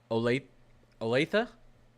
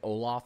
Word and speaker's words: Olathe: Olathe? Okay, good. Because I was going to say Oloth or Olathi. So I'm glad you guys helped me with that. Olathe.